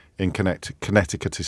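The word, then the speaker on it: Connecticut: I know that the second C in Connect Conneticut is silent and you don't pronounce it but it's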